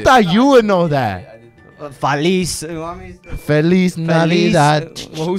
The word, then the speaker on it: Feliz Navidad: Navis Navidad.